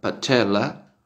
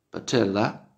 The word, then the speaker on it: patella: Que en inglés se pronuncia patella, patella, y que quiere decir rótula, que ese es el nombre de ese hueso, rótula, ¿sí?